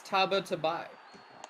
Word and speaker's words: Tabatabai: As Turkey points out, it's Tabatai. Yeah. It's Tabatabai. Tabatabai? Yeah. Tabatabai.